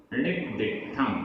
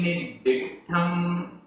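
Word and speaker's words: णिद्दिट्ठं: सम्माई, सम्माई गुण विशेषम, सम्माई गुण विशेषम, पत्त विशेषम, पत्त विशेषम, जिणेहि, जिणेहि, णिद्दिठम, णिद्दिठम, आधा दा पूरा दा, आधा ट पूरा ठ, णिद्दिठम, तम जाणिऊण, जाणिऊण, देई,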